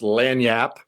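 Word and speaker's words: lagniappe: It's pronounced lanyap.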